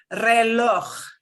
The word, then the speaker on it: reloj: This is kind of like the ch you get like in the Scottish word Loch Ness. Think of it, if a true person pronounces Loch Ness properly, it's Lach.